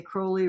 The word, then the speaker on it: Crowley: think that Crowley and he'd always say Crowley rhymes with holy and no one yeah